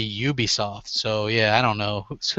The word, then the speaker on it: Ubisoft: It's spelled like it should be Ubisoft. Yeah. Yeah, and it's really Ubisoft.